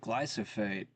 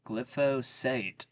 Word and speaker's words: glyphosate: Test reportedly found extremely high levels of glyophate or wait glyphosate. I said it wrong.